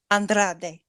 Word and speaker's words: Andrade: Andrade. Yes, that's it. Andrade is all elite, y'all. I was sort of right. She did her pick for the Casino the Battle Joker. Royale Joker. Yes, was who? Andrade.